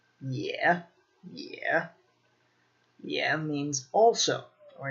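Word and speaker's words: 也: So another adverb is this one, pronounced yeah, yeah.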